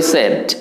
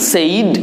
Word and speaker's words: said: এটাকে বলবেন what E সেড। What E সেড, SAID, সেইড উচ্চারণ না করে বলবেন সেড।